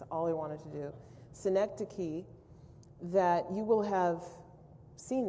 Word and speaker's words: synecdoche: If you know how to pronounce that last word on the English side, anybody? Richard? Synecdoche. Okay, he learned something today. That's all he wanted to do. Synecdoche, that you will have seen that word before